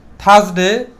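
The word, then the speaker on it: Thursday: কি থাকবে সাইলেন্ট থাকবে আমি পূর্বে বলেছি আর এর পরে যদি কনসোনেন্ট থাকে তাহলে আরটা সাইলেন্ট থাকবে তাহলে এটা কি হবে থার্সডেই আরটা সাইলেন্ট থাকবে বাদ তাহলে টি এইচ ইউ এস থাস ডি এ ওয়াই ডেই তাহলে তাহলে থার্সডে থার্সডেই এবং লাস্ট অফ অল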